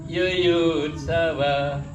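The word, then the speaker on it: yuyutsavaḥ: Samaweta, Yudsawa, Yudsawa. Nah, kalau se-nya itu Yudsawa, se-nya itu kalau panjang kita salah mengucapkannya.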